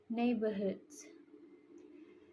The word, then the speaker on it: neighborhoods: which is is incorrect pronunciation and the mistake is in several of the word I pronounce the I pronounced the G h even though is it silent and also I pronounced bore as a bore but it should be B listen everyone Burr.